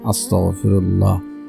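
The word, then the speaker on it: أستغفر الله: কারণ এখানে উচ্চারণ ঠিক নেই। আপনারা পড়বেন আস্তাগফিরুল্লাহ।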